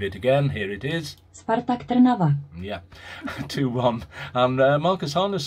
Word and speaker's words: Spartak Trnava: Spartak Trnava 1. I threw that in because everyone complains about my pronunciation, so they have it from a Czech person pronouncing their name.